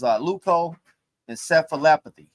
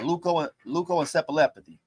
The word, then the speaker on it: leukoencephalopathy: I can't pronounce it. It's leukoencephalopathy. Yeah, leukoencephalopathy.